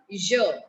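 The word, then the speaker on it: yeux: And when we talk about two eyes, the plural of eyes become je, Y-E-U-X.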